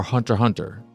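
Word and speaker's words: Hunter × Hunter: it's spy family or hunter hunter and I think ball pit is another example of the x is silent and in those titles in those shows spy family hunter hunter Hunter ball pit.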